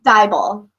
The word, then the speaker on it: Dieball: well that's how do you say your last name properly dieball dieball see I would that up yeah everyone does um I